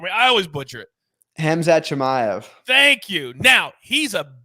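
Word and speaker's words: Khamzat Chimaev: fight this dude and then he got coveted hamzet jimmy i i always say his name for me i always butcher it hamza chimayo thank you now he's a beast but we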